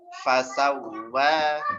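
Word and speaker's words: فسوى: Fasawwa. Nah, waw yang di sini ada tasydid, ditekan sedikit. Kemudian dipanjangkan 2 harokat karena ada ini alif di atas. Fasawwaka fa'adalak.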